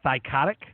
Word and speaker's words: Thycotic: I'm pretty sure I pronounced that right. Thycotic?